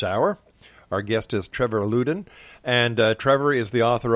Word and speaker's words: Loudon: It's actually pronounced Loudon. Loudon.